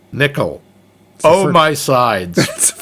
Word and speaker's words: Nicol: I thought it was Nicole, but... I looked it up, and it is pronounced Nickel. Huh. I think it's the Welsh thing.